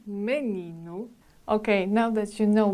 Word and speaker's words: menino: And the last one, letter O, situated at the end of the word, mainly sounds like o porto, o menino, o menino.